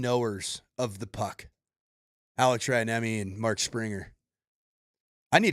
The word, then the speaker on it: Rantanen: Can you pronounce it correctly in Finland? Rantanen. Whoa! Rantanen. All right, give me a Spring in all your culture. Give me the correct pronunciation of Mikko's last name. I mean, I assume the correct pronunciation is probably Rantanen, but I say Rantanen.